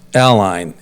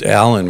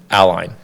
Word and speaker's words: Allyn: But it's technically pronounced Ally. It is. It is. as if there was an I in there or Well, even that's not even clear.